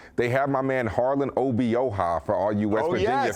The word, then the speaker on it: Obioha: They have my man Harlan Obioha, for all you West Virginia fans that have come in my DMs for not being able to say his name correctly.